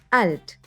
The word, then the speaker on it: alt: german lessons by 11 alt in this lesson we'll talk about very very old stuff alt is alt alt just watch out not to mix it up with the english pronunciation alt is an adjective